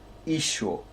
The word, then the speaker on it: Isho: Take note, it's pronounced Isho. Usually it's spelled Y-S-H-O in the Galilean Aramaic.